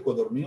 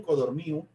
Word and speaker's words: Codorníu: bastante voluminoso, especializado en Codorníu, vuelvo a decir Codorníu, no Codorníu, acento en la I, según el biógrafo, Codorníu, y este Codorníu fue